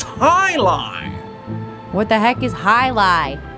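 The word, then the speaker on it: jai alai: It's pronounced Highline.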